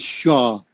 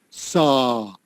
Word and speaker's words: saw: When she says the word saw, she says shaw, but saw. Saw. Yeah. Now, when you say the word saw, tongue, you have to open up your mouth.